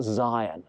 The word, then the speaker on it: Syon: Now I say Syon, but actually it's pronounced Zion because it was the site of a medieval monastery from the 14th century onwards, and they wanted to make a link to the ancient word for Jerusalem and the land of Israel.